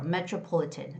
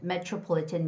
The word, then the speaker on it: metropolitan: Whenever there's a T and R together, it's got to be ch similar to the ch sound. So, it's metro metropolitan metropolitan museum metropolitan museum.